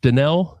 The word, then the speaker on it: Dannehl: Dell. Yes. Got to write this. I know the H is silent.